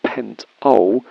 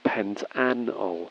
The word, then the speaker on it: pentanol: a five carbon chain no we don't call this pentol it's very awkward and doesn't roll off the tongue we normally say pentanol so we introduce that extra syllable when naming alkyl groups